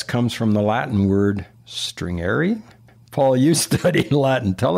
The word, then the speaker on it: stringere: The English word stress comes from the Latin word stringere. Paul, you study Latin. Tell us how you pronounce the word and what it means.